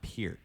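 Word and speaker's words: Peart: you ain't no Neil per actually hey all the drum snobs it's pronounced Pier I call them per it's per dude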